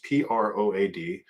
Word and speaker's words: Prode: Proad, rhymes with chode.